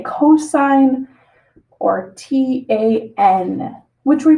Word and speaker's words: cosine: we pronounce it sine, COS, which we say cosine, or TAN, which we pronounce as tangent.